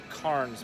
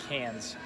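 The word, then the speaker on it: Cairns: up to Cannes which is it spelled like Karns but it's actually Cannes and I was up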